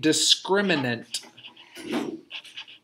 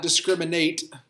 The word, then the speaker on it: discriminant: need to pronounce carefully it's called the discriminant the discriminant not discriminate discriminate is what happens